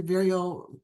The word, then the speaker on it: Vireo: that I met you Vio rhymes with Cheerio so forever forever right